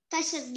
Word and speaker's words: custard: Nó còn chữ sau chữ S, nó còn một chữ T nữa.